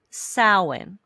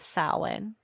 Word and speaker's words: Samhain: And the reason why I'm starting with Samhain, and that is it is spelled very different than how it's pronounced, because it is an old, let me make sure I have this right.